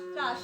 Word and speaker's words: ত্রাস: ত্রাস ত্রাস, হ্যাঁ তৈর ফলাইটা ত্রাস, উচ্চারণটা একটু ভালো করে করতে হবে।